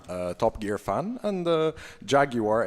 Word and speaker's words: Jaguar: am a Top Gear fan, and Jaguar is how it's spelled because it has a U in it.